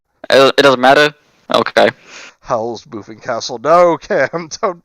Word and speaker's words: Haull: On the main howl Howl because of the castle. because it's spelled Haull.